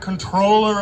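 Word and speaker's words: comptroller: a Citywide elected official he's the current controller of New York City that's how you pronounce it by the way and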